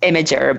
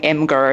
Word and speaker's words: Imgur: the official word so it actually is pronounced imager but spelled IMG so obviously I can't really put too much blame on people if they're saying imer or something else like